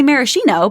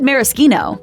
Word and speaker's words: maraschino: You might want to say maraschino, but don't. The sh actually makes a K sound. And before you get all triggered and start posting in the comments, we're talking the true pronunciation, as in the Italian word. Yes, in the US, you'll often hear the she syllable, but back in the old world, it is indeed maraschino.